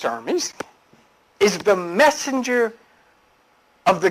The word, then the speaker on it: Hermes: a little bit okay let's see now John Hermes pronounced Hermes is the messenger of the Gods in Greek